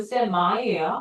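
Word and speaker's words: semi: 원래 영어 발음은 샘마이에요. 우리나라서 그냥 쌤이라고 하고요.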